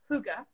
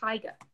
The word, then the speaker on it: hygge: And I never know how to pronounce it. And I know it's hygge, Yeah, pretty I good. know this, and then when I see it, I just want to say higa because I'm English, or British, and I speak English.